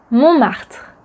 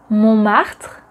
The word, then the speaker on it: Montmartre: Montmartre ou le Sacré-Cœur. Montmartre Mat.